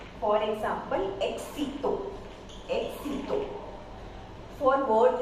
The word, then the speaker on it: éxito: So if X is followed by a vowel or any consonant, then it produces KS sound. For example, éxito.